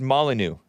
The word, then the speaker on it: Molyneux: I think it's just pronounced Molyneux with no X.